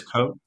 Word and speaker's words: Cote: So it's Cote? Yep. I hadn't heard of that one. Cote. Cote is how you spell it.